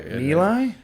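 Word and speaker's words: My Lai: It's called Meli. Mili. Yeah, that's how it's pronounced.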